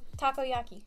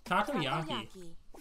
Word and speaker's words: takoyaki: How do you pronounce that? Takoyaki. Takoyaki.